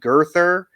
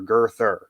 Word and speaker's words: Girther: you might like um every name in the book is pronounced just the way you see it like there's no complications genetically it's all phonetic so there's a guy named girther it's just g-u-r-t-h-e-r girther